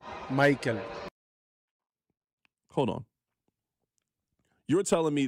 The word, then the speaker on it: Maikel: It's not Mykel, it's Maikel.